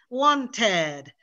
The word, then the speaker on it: wanted: that's that finish with regular verbs that finish with t or d or t e d e no so like want wanted need needed invite invited decide decided we need to pronounce an extra syllable a lot of our